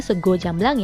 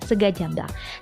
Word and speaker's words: sego jamblang: Nah, dibacanya sego jamblang ya, bukan sega jamblang.